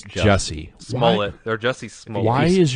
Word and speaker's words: Jussie Smollett: At what point did you realize that Jussie Smollett was absolutely full of shit?